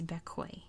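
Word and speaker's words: Bequia: the biggest island in the Grenadines this is bekoi that's how you pronounce that koi and um it is not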